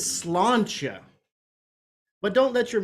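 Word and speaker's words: sláinte: no no there was a pause a Beat not slancha I tried to make her eyes meet but the yank could only look at his feet it said as slantia but don't let your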